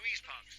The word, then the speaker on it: Louise Parks: Sorry, Louise Parks. I beg your pardon. Midwife and hedge witch from Perth. And it is pronounced hedge witch.